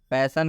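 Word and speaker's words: passion: उच्चारण अ हुआ है पैशन का मतलब बता दिया गया है जुनून यहां पर आई से पहले एस आया आप देख सकते हैं आई से पहले एस आया है इसलिए आई का उच्चारण अ हुआ है इसलिए इस आई का उच्चारण हम लोग अ किए हुए हैं क्लियर नेक्स्ट एक और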